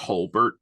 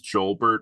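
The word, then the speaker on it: Jolbert: and yet I realize I'm pretty sure it's pronounced Holbert but I Holbert is just as funny I thought it was joelbert when I was a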